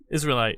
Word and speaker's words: Israelite: Israelite, like Israel, like the country.